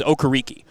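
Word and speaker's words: Okereke: home in California and everyone in the town calls them the okarikis but Bobby decided uh before the 2021 season that no listen I'm of Nigerian descent this is how it's pronounced get it right and I admired him so much for being the one to say Hey look it's pronounced okariki and or sorry okay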